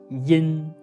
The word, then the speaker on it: yin: In this pronunciation, we don't pronounce the "y". We directly pronounce "in".